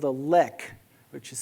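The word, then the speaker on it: lek: let's take a species right here in which nobody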